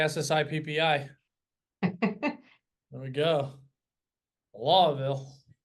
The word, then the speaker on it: Louisville: Lawville. All right. Louisville. You have to Well, say it like the locals.